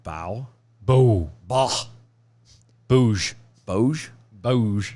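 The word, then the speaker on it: Bough: i'm what stephen r bo are you sure it's not bow boo boo booge boge boge b-o-u-g-h what how would you say that bow it's bo no yes no yes the gh is silent that still would be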